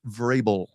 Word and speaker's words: Vrabel: Vrabel is the man's name, by the way, on the NFL awards last night. That name was grossly mispronounced. It's Vrabel.